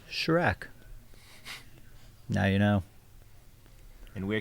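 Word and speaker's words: Kjerag: in last year yeah it's spelled k j e r a g but it's pronounced Shrek now you know and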